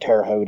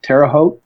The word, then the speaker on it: Terre Haute: Rail so now they're running like over at Terre Haute area in that region too so there are